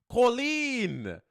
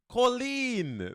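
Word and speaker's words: Kolín: big place at all let's listen to the pronunciation colen colen there we go I listened to the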